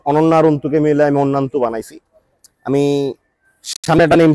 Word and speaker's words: Annayanto: এই নামটার full meaning হচ্ছে হলো, বা ফুল উচ্চারণ হচ্ছে হলো অন্যান্তু, যেখানে ANNAYANTO, যেখানে অন্না, আমি আমার ওয়াইফকে ডাকি যে অন্না বলে, অনন্যা পুরোটা বলি না।